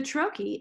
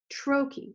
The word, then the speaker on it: trochee: a longer stressed syllable the trokey is the exact opposite of that it's stressed and then unstressed like Bubba trochee like the word itself a spondee is stressed